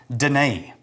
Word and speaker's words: Danefae: it's uh pronounced Danae oh I can't tell that story never mind